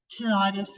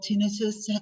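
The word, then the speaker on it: tinnitus: and vertigo um and tentis or tinitus depending how you're wanting to pronounce it which is your ringing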